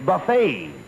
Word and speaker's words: buffet: Not buffet supper. It's buffet. The tea is silent.